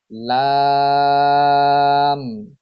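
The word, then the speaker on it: لام: 8 number মাখরাজ, জিহ্বার agar কিনারা সামনের উপরের দাঁতের মাড়ির সঙ্গে লাগিয়ে উচ্চারিত হয় লাম, লাম।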